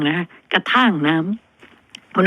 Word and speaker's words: กระท่าง: สระ อำ ไม่ โธ คล้าย ๆ ท่าน ท่าน น่ะ แต่ เป็น ท่าง ไม่ ใช่ กระทั่ง นะ คะ กระท่าง น้ำ คุณ ผู้ ฟัง